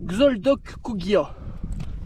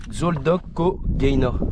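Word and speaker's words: Xoldokogaina: Xoldok Kugia. Non. Non, vas-y, à toi. Xoldoko Gaina. Gaina, ouais. Xoldoko Gain.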